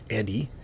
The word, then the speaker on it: ED-E: We have our new friend, Eddie, who I've always in the past called Edie. I guess I just... Anyway, Eddie, and I think is the accepted pronunciation. I just thought it was more of a her, more of an Edie.